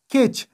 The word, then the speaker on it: catch: مثلا کچ دلته له ټي نه وروسته سی اچ راغلی ده نو د دې په خاطر دلته د ټي نه تلفظ کیږي خو سی اچ تلفظ شو کچ.